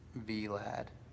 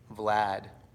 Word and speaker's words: Vlad: It's pronounced like Brad, but Vlad. Vlad.